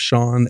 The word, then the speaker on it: Sean: name i put the the gaelic or the scottish spelling of sean s-e-a-n yeah in parentheses between my first and last name to imply this is how you pronounce it yes okay what